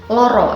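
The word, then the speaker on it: lara: bude kira-kira seperti itu kemudian dalam pelafalan Jawa terutama pelafalan O itu tidak selalu ditulis dengan huruf o misalnya kita mau bilang loro atau sakit itu tulisannya tetap l a r a Kalau tulisannya l o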